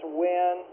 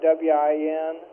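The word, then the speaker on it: Wynne: June 22 setup as WIN, pronounce it like W-I-N, even though it's spelled different.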